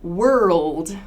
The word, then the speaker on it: world: though yeah some people lots of people have trouble with world world it's that rl transition break that down into three parts and try practicing those